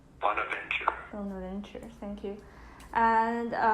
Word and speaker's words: Bonaventure: And how do you pronounce this name? Bonaventure.